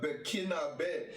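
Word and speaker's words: Burkinabè: Nationality Burkinabe. Accent on the E. I think that's from the French background there.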